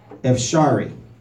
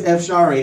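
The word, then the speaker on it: אפשרי: And I found the word possible in the Hebrew is, make sure I'm pronouncing it right, Epsharee.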